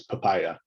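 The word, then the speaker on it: PIPIA: want to put into making sure we pronounce p-i-p-i-a as papaya goes much faster much more memorable and is just better in every way i think but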